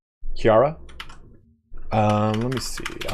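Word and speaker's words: Ciara: A in Irish again is it like Sarah it's not Sara Kira that's how it is Kiara um let me see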